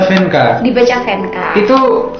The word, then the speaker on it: Vandka: tangan Teuk tangan oke venka Iya tulisannya gimana itu tulisannya F eh sori sori v v a n DK dibaca fenka Dibaca fenka itu pelafalannya